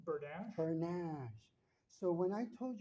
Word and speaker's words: Bernaiche: Bernaiche.